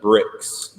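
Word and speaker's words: Brix: break break right red it's actually pronounced bricks great and it's Bri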